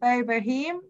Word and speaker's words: Boheme: And don't forget to look up, so I'll say it right this time, Boheme.